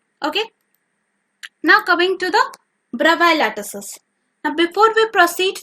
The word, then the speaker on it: Bravais: So while I searched over Google, I got to know that the pronunciation is actually Bravais. The S is silent.